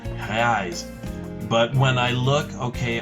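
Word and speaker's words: reais: do you pronounce that rise so in my perception this sounds like an h sound rise but when i look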